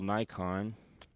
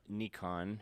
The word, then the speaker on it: Nikon: So, that's like an old school Nikon or Nikon apparently as the rest of the world says it. We pronounce it Nikon. We say Nikon, you say Nikon.